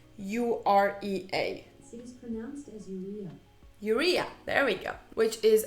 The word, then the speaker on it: urea: for you know glycerin alexa how do you pronounce urea urea there we go which is a pretty well